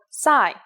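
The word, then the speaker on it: Ψ: the strange looking C you may have heard it in English called PSI there is no corresponding sound in English it makes a s sound like P and S said at the same time here's the uppercase C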